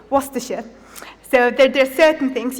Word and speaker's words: Worcestershire: specific words for example my first instinct when i see this is to go war sister shy but actually the correct condensation is worcestershire so there are certain